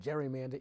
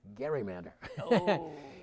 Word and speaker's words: gerrymander: gary and he told me you do not pronounce it gerrymander it's gerrymander and he was insistent on it and uh